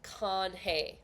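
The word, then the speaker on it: canje: doing what is called con it's spelled c a n j e and it literally means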